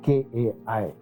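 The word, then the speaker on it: καί: KAI. Spelling ऐसे आता है, लेकिन pronunciation होता है kai.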